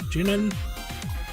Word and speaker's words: Shin'en: How do you pronounce the company's name? Shin'en.